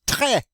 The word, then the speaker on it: très: Très. Très. The E with the accent grave is pronounced eh. The S, of course, is a final consonant. We do not pronounce it, so this word is pronounced très.